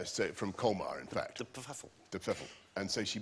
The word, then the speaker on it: de Pfeffel: Well, no, we don't know exactly how it's meant to be pronounced. That's how my grandmother wanted it pronounced.